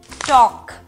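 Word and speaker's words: talk: এল অ্যালফাবেটটাও কিন্তু অনেক সময় সাইলেন্ট হয়ে যায়, যেমন এই শব্দগুলো খেয়াল করে দেখেন, could, should, would, টক, salmon, এই সকল ক্ষেত্রে কিন্তু এলটা সাইলেন্ট, এবং এটা কিন্তু নেটিভ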